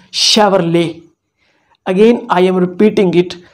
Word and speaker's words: Chevrolet: what we call it we call it chevrolet chevrolet this is wrong the right word is chevrolet again i am repeating